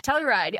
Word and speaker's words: Telluride: Telluride, okay.